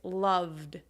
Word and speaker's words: loved: let's think of one love the V sound is a voice sound you can feel it here love so the past tense ending is loved so what about that